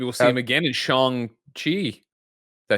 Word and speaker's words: Shang-Chi: Maybe we'll see him again in Shang-Chi. Did I say it right? Yeah. Mhm. Shang-Chi.